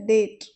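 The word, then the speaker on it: debt: में कहा जाता है डेट डेट यहां पर बी साइलेंट रहेगा और इसका प्रोनंसिएशन इस प्रकार करेंगे डेट डीटी डेट और जो कर्जदार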